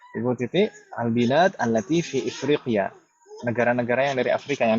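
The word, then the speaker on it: إفريقيا: Apa sih bacanya? Ifriqiya.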